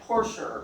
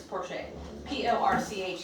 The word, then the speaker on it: Porcher: And the author's name his name is spelled like Porcher, but it's Porcher. Porcher.